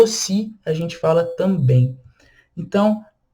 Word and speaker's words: aussi: Então, a U tem som de O. SS, som de S, o som de C cedilha, e o I no final. Ossi. Sendo que a última sílaba é a sílaba tônica.